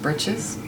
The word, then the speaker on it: breeches: She should be in breeches. Should have gotten better than this. I'm pretty sure it's pronounced britches. Breeches.